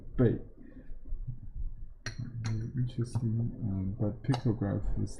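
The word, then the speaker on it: 貝: In Chinese pronunciation, it's not shell, it's bei.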